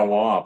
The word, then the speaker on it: Wamp: Jack, I'm trying to remember, did he pronounce it Womp or Wamp? Womp. Yeah, Womp.